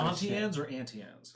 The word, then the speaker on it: Auntie Anne's: Oh, well, it depends on your pronunciation. Auntie. If you're from the South, it's Auntie. Auntie. There it Auntie is. Anne's. Auntie Anne. If you're from the south, it's Auntie Anne. If you're from up north, it's Auntie Anne.